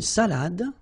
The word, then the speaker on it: salade: All right, so, une salade, same thing here, final you don't insist on it, it only gives you the pronunciation of the previous letter, so d, salade, salade, okay?